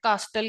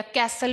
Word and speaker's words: castle: यस हाँ exactly बड़ी सारी बिल्डिंग होती थी ना जिसको हम गलत प्रोनाउंस करते हैं, कास्टल कहते हैं या कैसल भी बोलते हैं, कासल वो बोला उसने।